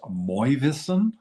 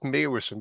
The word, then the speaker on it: Meeuwissen: And is your last name pronounced Moivissen? Well, so I listen to anything, but I pronounce it myself Meeuwissen. But even in the Netherlands, there's a dispute about that.